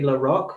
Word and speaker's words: LaRock: It's LaRock, which is, as it's spelled, LaRock, ROCK.